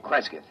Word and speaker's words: Cresgyth: He wants us to record it instead as, I'll spell it. Cresgyth. Cresgyth.